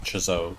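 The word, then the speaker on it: Chzo: of chazo also I used to think it was pronounced so but I've heard Yahtzee himself pronounce it chiso so I'm gonna go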